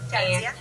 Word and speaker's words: Jazia: is funny sure um it's pronounced Jia yeah and um it's